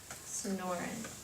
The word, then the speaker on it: Sonoran: And look, they tell you how to say it, which your teacher needed to look at. Sonoran.